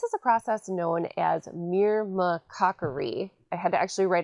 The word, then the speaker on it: myrmecochory: This is a process known as myrmecochory. I had to actually write out that pronunciation because it's such a long word.